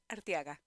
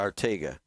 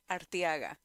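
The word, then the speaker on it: Arteaga: Artiaga. Can you turn her up a little bit? Um, how do you spell that? A R T E A G- A. Artega. Artiaga.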